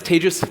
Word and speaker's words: Tejas: My name is Tejas. That's pronounced like contagious.